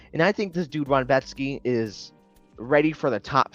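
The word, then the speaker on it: Rębecki: Anyways, Carlos Diego Ferreira, CDF himself, against Mateusz Ronbetsky. You could tell people like taped this dude Ronbetsky from the way they pronounce his name, because this dude, that's his name. That's how you say it.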